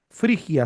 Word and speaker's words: Frigia: Frigia, se escribe tal cual.